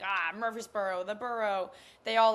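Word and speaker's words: Murphysboro: Uh, I'm going to butcher the name again, but it's Mir I think it's Mir Freeboro. Mur Murphy'sboro. Murphy'sboro. Yeah. Murphy'sboro. Um, yeah.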